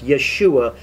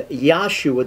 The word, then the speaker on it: Yeshua: that's his name but it's yeshua is the proper way to pronounce uh jesus's name in hebrew and yahshua doesn't work it's good for the sacred name people but it does not befit hebrew grammar and so we decide